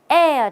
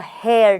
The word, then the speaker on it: heir: family home as the heir to the estate not the hair to the estate what's